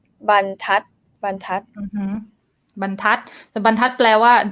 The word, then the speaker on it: บรรทัด: บรรทัด first syllable mid tone bun like Nam already pointed out, right? And bun, so it's boy my middle consonant, bun mid tone, tat high tone because ทอทหาร low consonant dead syllable and short vowel, tat bun tat bun tat.